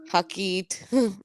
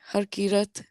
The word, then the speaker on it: Harkirat: No, because Jeddu says Harkeet. Harkeet. How do you say it? Harkirat. Hakirat.